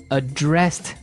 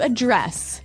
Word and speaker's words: address: So the verb address has the stress on the second syllable.